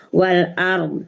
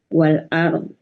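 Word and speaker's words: وَالْأَرْضِ: Iya, wal ard. Bunda sudah tahu ya, ketika kita wakaf di wal ard, bawahnya tetap dibaca setengah ketuk ya Bunda ya. Ya. Wal ard.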